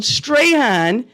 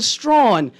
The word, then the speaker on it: Strahan: his name from Michael Strawn? Why you think he pronounced it like that? Does it? That's how. He never changed it. You know, that was just how he pronounced his name, believe it or not.